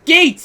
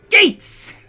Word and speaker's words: Gates: gates your name is gates i'm so happy that you're finally saying my name is the way that everyone at camp said my name is dates it's all right